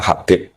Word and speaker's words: Habib: Itu di harokatnya kitab, itu ada yang nulis Hubab. Tapi yang benar, oh enggak, yang benar itu bacanya Habib.